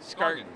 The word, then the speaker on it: Scargan: The Scargan series, or Scargan? Scargan. RG. Hard G.